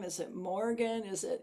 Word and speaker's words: Morrighan: Is it is it Moringham? Is it Morgan? Is it And then you corrected me with like Morgan like like Oregon. So out there that's how she pronounces it. Like Oregon.